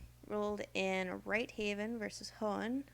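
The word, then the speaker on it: Hoehn: in wright haven versus hohen or hoon if it's a german pronunciation that the posting of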